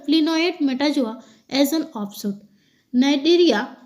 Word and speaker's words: Cnidaria: Cnidaria, इसको सी silent रहता है, और स्टेनोफोरिया से युक्त